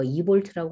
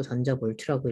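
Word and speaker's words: eV: n제곱 분의 13.6 전자볼트 이거 2볼트라고 아니고 전자 볼트라고 읽어요 자 요렇게 해당하는 식을 이용을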